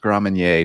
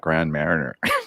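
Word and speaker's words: Grand Marnier: way just a public service announcement it's uh pronounced grandmanier not grand mariner just letting y'all know just letting y'all know because when you call it grand marathoner you get funny looks anna sombrero edison just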